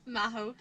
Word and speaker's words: Magho: Magho.